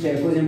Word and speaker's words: chalcogen: 6A are called chalcogen, इसको चैकोजेन पढ़ते हैं, एल साइलेंट होता है, चैकोजेंस मीन होता है